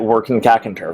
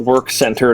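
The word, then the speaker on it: W'rkncacnter: The old Macintalk that was around when Marathon 2 first came out pronounced it Workin' Cackator, which is why I stand by that. That is the canonical pronunciation. It is not work center, no matter what people elsewhere will tell you.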